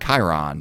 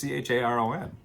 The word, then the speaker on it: Charon: I think I pronounced that Chiron, but I could be wrong. There's also no I in it though. It's Charon.